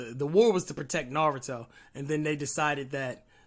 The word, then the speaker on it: Naruto: friends yeah i mean naruto's a bit of a piece of though sometimes it's actually it's not naruto it's pronounced naruto really yep i don't